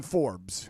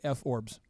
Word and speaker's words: Forbes: We like to go to reliable sources like the Google and the Forbes. It's called Forbes, but if you want to mispronounce it at home, you could say F-Orbs.